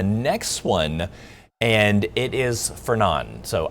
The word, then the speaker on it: Fernand: So we got the next one, and it is Fernand. So I guess you just don't pronounce the D. So it's not Fernand, it's Fernand.